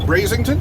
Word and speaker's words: Brazington: And I am here with Brazington. Is that how you say it? That's correct, yes.